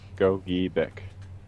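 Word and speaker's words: Gogebic: Go Bick. Yeah, there. Said it right. Go Bick.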